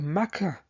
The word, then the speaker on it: Mecca: for the Islamic claims the mea or meca as it is pronounced by Muslims as having its Origins